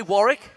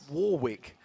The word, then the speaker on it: Warwick: But first, you say tomato, I say tomato. I say Warwick, and not Warwick.